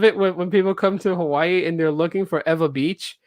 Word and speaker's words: Hawaii: why do you say hawaii well because you know if the w comes if the w is not the first letter in the word it's pronounced as a v and you know it's